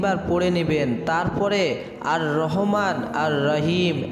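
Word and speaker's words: الرحيم: আমলটি হচ্ছে মহান রব্বুল আলামিনের গুণবাচক দুটি সিফাতি নাম, নামটির উচ্চারণ হচ্ছে আর রহমান আর রহিম।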